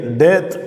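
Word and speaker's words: טית: அடுத்த எழுத்து அடுத்த எழுத்தை டெத் அப்படின்னு உச்சரிக்கிறோம் ஒன்பதாவது எழுத்தை டெத் என்ு உச்சரிக்கிறோம்.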